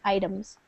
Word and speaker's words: items: this word here items it's with a long I sound I items just means the different